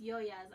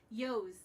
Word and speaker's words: Yoya's: And yes, it's Yoya's. I love when people try to pronounce it. I went to somebody else's live. Yos. That's what they call no, me.